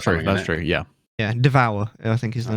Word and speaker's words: Devour: Yeah, Devour, I think is the name of the game. But yeah. Oh yeah. I believe it's pronounced Devor. Devor, oh really? Okay. It's French.